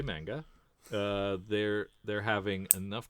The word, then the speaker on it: manga: you ask about how manga is produced we go again the ma sound sound is pronounced like the ma in mama not the ma in man I hope that helps